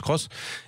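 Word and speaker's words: Aygo X: c'est taïg au cross elle s'appelle à gouvix on prononce cross et elle est quand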